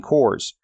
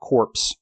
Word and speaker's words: corps: and four war fighting cores pronounced core when singular not corpse there are no zombies here they are the first